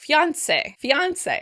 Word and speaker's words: fiancé: In American English, we tend to stress the last syllable. Fiancé. Fiancé. I have to say I tend to pronounce it with stress on the second syllable.